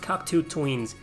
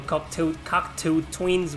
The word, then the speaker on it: Cocteau Twins: I think it's pronounced Cocteau Twins.